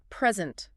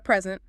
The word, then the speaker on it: present: Stress on the first syllable for both the gift and the state of being here. Present. But the verb meaning to show or give something like she will present her project. Exactly. The stress moves. Present.